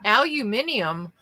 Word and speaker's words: aluminium: so get over it but aluminium like that that extra letter is not even in there we've had this that's how I pronounce it now it annoys my